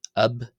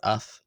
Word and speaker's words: ⲫ̀: Finally, we have ab and at uh are the third matching pair of articles with ab or af depending how you pronounce it. Just it's just personal choice again.